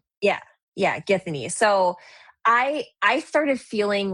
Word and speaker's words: Githany: The the girl that he attaches I can't How How do you pronounce her name? Githany. Yeah. Yeah, Githany.